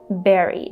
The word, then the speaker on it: bury: bury or bury, but unfortunately the correct pronunciation is berry, just like in the word berry, like I like berries with my oatmeal, for example, like strawberry is a berry, so the same pronunciation.